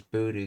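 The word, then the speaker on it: ぶり: long specifically regarding time and then hudoo which is pronounced as buddhoo because of dakutin rule indicates first time after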